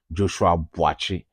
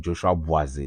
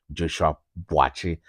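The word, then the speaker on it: Joshua Buatsi: Yes, the name is not Joshua Boise. The name is Joshua Boachi. As we hail from the same hometown, I am pronouncing it as our natives will originally say, Joshua Boachi versus Willie Hutchison.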